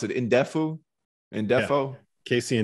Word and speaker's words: Ndefo: And how do you pronounce it? Ndefu? Ndefo? Yeah. Casey Ndefo.